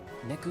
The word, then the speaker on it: Neku: Oh, it's Neku. Huh? Neku Sakuraba. You asked. Neku Sakuraba. That's a mouthful. No, it's really not. Come on, Neku. Let's take him. I think it's a 2-syllable first name, just like yours, Sora.